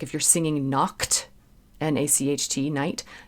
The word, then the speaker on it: Nacht: You don't want to say, like if you're singing Nacht, N-A-C-H-T, night, you don't want to have it be a hard C sound. It's more like Nacht.